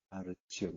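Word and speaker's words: הר ציון: 시온산, 예, 하르 치온이라고 해요. 하르 치온. 하르가 이제 산이죠. 예, 치온을 이제 우리식 발음으로 시온이라고 읽거고요.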